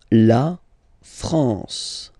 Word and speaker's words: France: La France. La France. Okay? AN here, nasal en, la France.